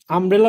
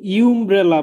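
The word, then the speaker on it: umbrella: ঠিক আছে, কিন্তু আমরা যখন আমব্রেলা উচ্চারণ করি ফর এক্সাম্পল, তখন কিন্তু আমব্রেলা কিন্তু ঠিকই ইউ দিয়ে শুরু হওয়া একটা ওয়ার্ড, কিন্তু যখন আমরা উচ্চারণ করি তখন কিন্তু আমরা আমব্রেলা বলি, আমরা কিন্তু ইউমব্রেলা বলি না।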